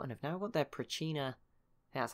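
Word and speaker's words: Pracinha: in this war and have now got their Prachina, that's how you say it, unique units.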